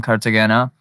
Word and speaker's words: Cartagena: Cartagena.